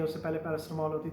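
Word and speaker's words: paracetamol: गई है, उससे पहले पैरासिटामोल होती थी, तो यहाँ पे कहते थे पैरासिटामोल, जबकि इंग्लैंड में उसकी प्रोनाउंसिएशन क्या थी, पैरासीटामोल।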